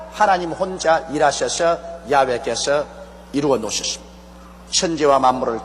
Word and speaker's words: 야훼: 왜냐하면 원래 일을 행하시는 여호와 그 일을 지어 성취하는 야훼 하나님이신데, 야훼라 해도 좋고 여호와라 해도 좋습니다. 그러나 야훼란 말이 더 정확한 발음입니다.